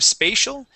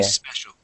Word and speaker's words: special: okay um let's uh focus on a a short e sound here spe special special good yeah so instead of spal spe okay special okay special there you go